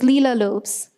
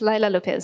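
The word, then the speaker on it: Leila Lopes: perhaps 2011 12 sometime who was leela lopes and sorry yes laila lopez sorry my about my mispronunciation and she did fit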